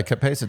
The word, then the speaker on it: capsaicin: I thought it was like capsicum. That's one pronunciation. But yeah, capsaicin.